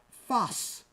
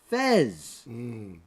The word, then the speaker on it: Fez: what created the first city was called fuss not Fez mispronunciation from from the Moors from for nothing the more excuse me not the Moors but the French because the French Foreign Legion caught eventually conquered Morocco at one time before